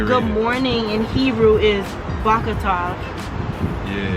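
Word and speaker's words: בוקר טוב: So good morning in Hebrew is Bakatov. Yeah. Bakatov.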